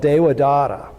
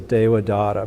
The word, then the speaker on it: Devadatta: So Dewa, D-E-V-A-D-A-T-T-A. The V is pronounced kind of like a W, so Devadatta.